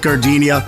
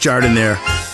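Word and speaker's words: giardiniera: Hey guys, when you're at the counter, don't call it gardenia. It's pronounced Jardiniere.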